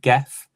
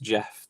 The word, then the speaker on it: Gef: I know it sounds like Geff. It's pronounced Jeff the way he said it.